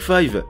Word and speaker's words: five: A l'origine, il semblerait que le 5, prononcé à l'anglaise 5 même au Japon depuis le début, était simplement une idée marketing.